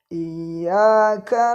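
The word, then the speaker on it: إياك: I di sini terdapat tasdid. Jadi kita tahan sebentar membacanya. Iyyaka. Kemudian pada ya terdapat tasdid dan juga di depannya ada alif. Jadi panjang 2 harokat.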